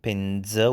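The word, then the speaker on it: پنځه: Again, pendze with z sound, and at the end is a schwa, so pendze.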